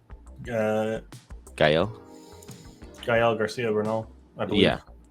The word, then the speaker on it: Gael: Think about if an older generation of like Nadia's mom is Mexican, and she would know Gail Garcia Bern- Bernal. Is that how you say it? Uh, Gael.